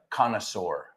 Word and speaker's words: connoisseur: En francés sería connoisseur. Con OI, UA en francés. Vale, entonces, connoisseur es conocer. Connoisseur.